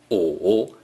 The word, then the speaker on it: 午: 上午 means noon. 午 is the third tone.